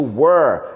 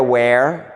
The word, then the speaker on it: were: Cuidado com a pronúncia do were, não é where, porque where é um pronome interrogativo, onde, aonde, W-H-E-R-E, a gente chama de palavra W-H, e nem war, war, W-A-R, quer dizer guerra. A pronúncia do verbo to be conjugado no passado é were.